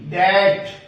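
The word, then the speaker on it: debt: इसी तरह से अगर टी से पहले बी आ जाए तो भी बी साइलेंट रहता है। जैसे इस वर्ड में डी ई बी टी, डैट।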